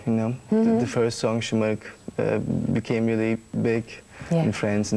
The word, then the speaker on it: Şımarık: I have to pronounce like Şımarık.